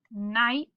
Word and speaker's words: knight: Then we have some of our silent letter words. We have knocks, we have knots, and night, and there's night again.